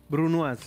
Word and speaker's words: brunoise: Brunoise.